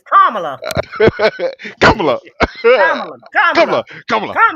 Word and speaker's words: Kamala: woman name is not no damn Kamala. It's Kamala. Kamala. Kamala. Kamala. Kamala. Kamala. Kamala. Kamala.